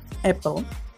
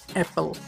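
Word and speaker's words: apple: এটার সঠিক উচ্চারণটা আমি বলে দিচ্ছি, এটার উচ্চারণ হচ্ছে অ্যাপল, যা আমরা অনেকে ভুল উচ্চারণ করি আপেল বলে। আপেল হবে না, এটার সঠিক উচ্চারণ হচ্ছে অ্যাপল।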